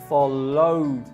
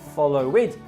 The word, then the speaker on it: followed: And the verb follow, which in the past becomes followed and not followed.